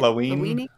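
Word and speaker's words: Lawine: When the gray-haired girl, Lavine, is that how they say it? Lavine.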